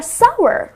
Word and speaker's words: sour: Lemons are sour, right? So it's well you can rhyme it with power or shower.